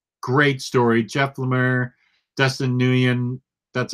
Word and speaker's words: Nguyen: Jeff Lemire, Dustin Nguyen, that's how you say his name.